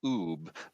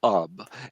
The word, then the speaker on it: Ub: got it yep and uh a officially he pronounced his name UB but Walt called him up and therefore everyone in the world called him